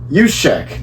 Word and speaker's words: Juszczyk: If you want to spell it, but yeah. Juszczyk. Juszczyk.